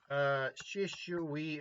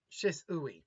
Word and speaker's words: Shisui: Shishui Uchiha. Shisui. Sorry. Shisui Uchiha. Okay. Koto Okatsukame. I believe that's how it's pronounced.